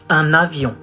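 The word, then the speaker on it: un avion: you say a plane we say an avion uh it's like a avion and we do the liaison how do we say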